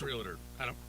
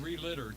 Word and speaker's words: realtor: It's realtor. Whatever. I heard it pronounced relitter too.